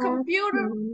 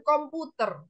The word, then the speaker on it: computer: What computer? Ini bacanya bukan komputer. Apa ada yang tahu nggak? Computer. Computer. That's good. Computer. Ingat, Computer. orang Inggris nggak bisa ngomong R Er. terlalu jelas.